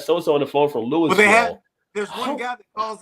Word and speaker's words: Louisville: tell Shantae it's yeah, Louisville. It's not right. Louisville." You know. There's no S in it at all.